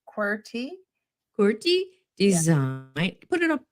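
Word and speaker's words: QWERTY: is based yeah it there's the pronunciation query quy design put it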